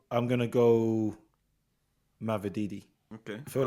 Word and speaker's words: Mavididi: I'm gonna go Mavididi. Okay. I feel like I said his name wrong.